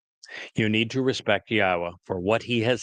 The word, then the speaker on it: Yahowah: Al Benim Yahwa which is the proper pronunciation of the name of our Eloha God as directed by his Torah teaching regarding his haya existence.